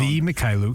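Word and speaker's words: Mykhailiuk: You got you got the Mahaliuk, however you say his name. He has been around Mychailiuk.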